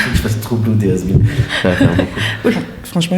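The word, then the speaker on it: Hazbin: Has Been, ça s'écrit H-A-Z-B-I-N.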